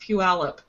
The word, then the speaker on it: Puyallup: i'd tell you guys it's pronounced puyallup sorry that's fine not